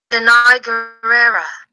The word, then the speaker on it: Gurira: Danai Gurira. Danai Gurira. Danai Gurira. That is how you pronounce her name.